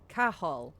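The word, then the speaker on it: Cathal: Was this Cahal?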